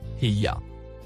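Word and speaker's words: هي: Le mot en surbrillance vert, se prononce Hiya.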